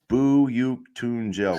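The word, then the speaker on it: Büyüktuncel: I thought it's buuk Tel that's how you pronounce the okay yeah buuk tunel which is not how it looks at all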